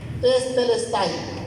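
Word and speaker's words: τετέλεσται: está en tiempo perfecto y como está en tiempo perfecto la pronunciación es testelesti, o sea, tetes o sea, no es teleo.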